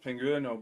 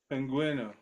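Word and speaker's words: Pingüino: Also, Pinguino is pronounced Pinguino because there's an umlaut on the U. Because there's what? There's an umlaut on the U in Pinguino. So how do you say it? Pinguino.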